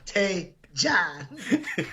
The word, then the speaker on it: Tejan: You should have said Tay John. That looks like a Tegan to me.